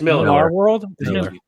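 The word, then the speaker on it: Millarworld: marar the Miller verse I don't know how you say it is it Miller M Miller Miller it's Miller world it's Miller yes it's okay I'm gonna go with that I'm gonna trust you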